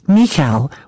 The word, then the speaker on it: Michal: It's pronounced Michal with a soft K sound. You're right, it does sound like you're clearing your throat.